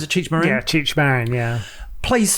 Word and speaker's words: Cheech Marin: Is that how you pronounce it? Cheech Marin? Yeah, Cheech Marin, yeah.